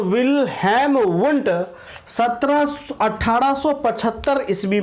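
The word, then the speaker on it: Wundt: कई किताबों में इनका उच्चारण उंट होता हुआ प्रतीत होता है, दिखाई पड़ता है, लेकिन ज़्यादातर इसका जो उच्चारण है वुंट आपको किया जाता है।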